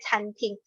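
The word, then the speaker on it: 餐厅: Cuma dia memang nadanya mirip dengan kantin ya kan. Tapi bacanya canting.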